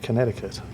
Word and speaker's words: Connecticut: state but I believe you don't pronounce the second C and they actually pronounce it Connecticut but anyway moving on